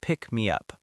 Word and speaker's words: pick me up: All three words flow together smoothly. It's not pick me up, but more like pick me up, almost like one word.